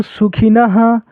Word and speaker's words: सुखिनः: यहां पर जो लास्ट में रहता है ना जो चीज का मात्रा उसी हिसाब से उच्चारण करते हैं। तो यहां पर अ के मात्रा है यानी ह पढ़ेंगे। ठीक है? ओम सर्वे भवंतु सुखिनः नः के बाद ह सुखिनः नः नः लास्ट में ह बोलना है।